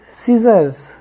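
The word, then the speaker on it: scissors: एस आ जाता है तो वहां पर सी साइलेंट हो जाता है तो जैसे सिजर इसको क्या पढ़ेंगे सीजर्स सीजर्स का मतलब कैची नेक्स्ट वर्ड आपका है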